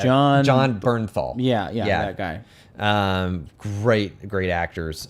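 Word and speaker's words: Jon Bernthal: I don't know how to pronounce his name. It's John Bernthal.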